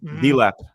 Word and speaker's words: Delap: Dilap. That's how you pronounce it.